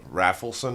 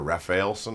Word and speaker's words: Rafelson: and Bob ra uh raffelson I think or rafelson I don't know how you say his name but I think it's raffelson cuz that's another dude who